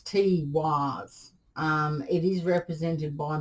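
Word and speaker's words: Teiwaz: in reverse this is it's spelt t e i w a z it's t-wise um it is represented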